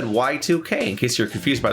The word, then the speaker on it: YIIK: Welcome to the wonderful world of Y2K.